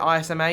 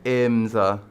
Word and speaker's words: IMSA: racing in if I'm not mistaken, is it ISMA he's in next year? IMSA. IMSA, yeah. So that's how you pronounce it.